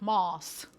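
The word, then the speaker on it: Mads: Насправді його звуть Мас. От, тобто щодо літера Д не повинна читати і прізвище ми теж неправильно вимовляємо.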